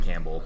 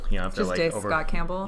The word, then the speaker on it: Campbell: think you need to say his name Campbell Campbell yeah it's like the camp Pole but um this has